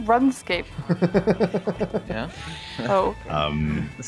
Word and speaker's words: RuneScape: And people who play RuneScape very racist and toxic. You say RuneScape? Yeah. Oh. That's how we say in South America. You pronounce runes and run ease. RuneScape? Yeah, literally rune, not run.